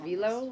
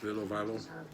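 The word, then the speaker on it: Vllo: I use my iPhone, and to do all the editing on my videos, I use, is it pronounced Velo? V-L-L-O. I'll put a little Velo. icon, I believe it's Velo.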